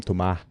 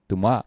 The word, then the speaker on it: Thomas: Yeah, but they call him Tuma. Tuma. Yeah, Wow. Tuma. It's like Bang. a Thai name. Like, you know. But a French pronunciation of Thomas Tuma.